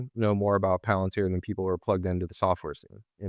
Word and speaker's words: Palantir: We still get mispronunciations of Palantir, so it's Palantir, things like that.